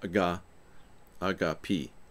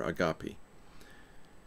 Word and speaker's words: agape: Pronounced agape, or agape.